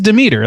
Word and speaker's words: Demeter: is in there, and they pronounce it Demeter, so I can't not hear it that way or say it that way. I had to look it up. It is Demeter, like that's how it's pronounced, how it's supposed to be pronounced.